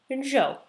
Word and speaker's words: Zhou: Now the next one, you're going to slaughter it, but this is how you say it, Zhou, which doesn't look at all like that.